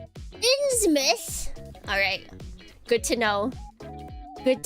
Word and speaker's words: Innsmouth: I think I was stopped on the SH because I just knew that was not the word I wanted to say. Innsmouth.